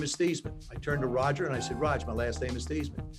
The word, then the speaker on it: Theismann: we think by simply changing your name from Theismann to Theismann to rhyme with Heisman, we can get you that trophy.